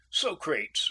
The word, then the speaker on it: Socrates: Socrates rhymes with Bates for me, and except when the